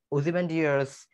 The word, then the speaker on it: Ozymandias: Okay, let's see the pronunciation. Ozymandias.